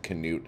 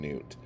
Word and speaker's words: Knut: don't know we'll just stick with Knute and Newt I've heard people say it both ways um and I don't know I mean is this a silent k situation and it's nut and then this this